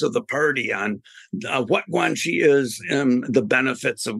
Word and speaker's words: guanxi: How do you pronounce that? And could you explain what that is, please? Yeah, Guanxi is probably maybe the most commonly used word